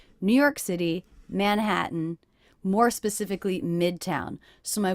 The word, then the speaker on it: Manhattan: would be manhattan 10 but I'm saying man hat mmm with a little break that means these teas are stopped tease in manhattan in manhattan also the last syllable mmm is really just the n sound so the letter A there is representing the schwa sound manhattan manhattan in manhattan